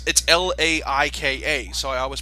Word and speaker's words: Laika: Wait, you call it Lakia? I've always heard it pronounced Laika. Is it like? I'm pretty sure it's Lakia. Hello, we are professional people. Dun, dun, dun, dun, dun, dun. No, it's Laika, so I always pronounce it Laika.